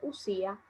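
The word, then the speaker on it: οὐσία: los había indicado que se escribe así se dice lucía el filósofo de barajarse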